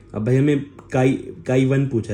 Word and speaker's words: chi: और इसे ना प्रेज्ड बाय chi काई करते हैं ऐसे काई प्रोनाउंस करते हैं ठीक है तो काई